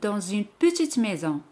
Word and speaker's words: dans une: J'habite dans une petite maison. J'habite dans une petite maison. J'habite dans une petite maison. Entre dans et une, se hace la liaison et la lettre S se prononce comme Z.